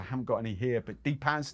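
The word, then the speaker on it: Depaz: heard of I haven't got any here but d-paz d e p a Zeds they are strictly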